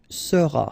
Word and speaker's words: seras: All right, then tu seras, final S not pronounced, tu seras.